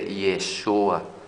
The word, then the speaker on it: Yeshua: eterno hemos explicado sobre la incorrecta pronunciación del nombre de yeshua esa es la correcta pronunciación y su correcta escritura con jude de vida